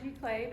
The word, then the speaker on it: Giclée: Many of you probably already know, but in short, Giclée, pronounced Giclée, is a high-quality inkjet print made using archival pigment-based inks.